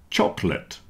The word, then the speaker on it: chocolate: Comfortable, vegetables, and chocolate have lost their middle syllable, at least for most people. So comfortable, comf-t-able. You see the OR in the middle isn't sounding.